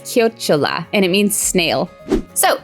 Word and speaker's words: chiocciola: The @ symbol is pronounced chiocciola, and it means snail.